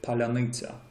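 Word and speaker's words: паляниця: the fact that Russians can never can never pronounce the word palyanytsia.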